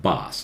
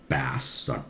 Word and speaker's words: bass: or base base right this is also base it's not boss is written as bass bass bass maybe officious